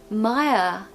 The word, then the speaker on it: admire: uh admire admire and of course no R pronunciation at the end we just say Maya Maya there's no R there completely missing all together now we're going to